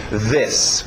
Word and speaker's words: this: Vocês olham para a letra I, querem dizer um I, mas esse I aberto de E, o som curto, E. This, ok?